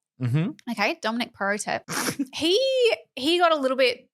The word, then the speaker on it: Perrottet: Perrottet, yep. Perrottet? Mm-hmm. Okay, Dominic Perrottet.